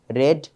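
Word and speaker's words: read: তো যেমন আমরা রিড রেড রিড পড়া আমরা বলি না রিড রিড রিড এটা ভুল পাস্ট টেন্সের উচ্চারণ হবে রেড ঠিক একইভাবে স্প্রিড স্প্রেড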